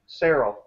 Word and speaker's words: Serrell: Serrell rhymes with Farrell. Did I say it right this time, Julie? Yeah. I'm trying. Yeah, that's right. That's what she says. That's what she says. Serrell. Serrell, soft C.